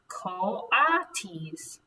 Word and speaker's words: coati: II dogs these about coatis miss Brisbane said reading from the letter pronounced artis the coatis looked weird Miss